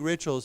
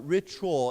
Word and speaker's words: ritual: when they have big rituals, it's very noisy. Uh yeah. So, anyhow, uh this word here, uh ritual, it has more of a ch a ch sound.